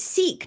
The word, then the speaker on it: Sikh: you good lollipops and I've always pronounced it seek not sick me too and learn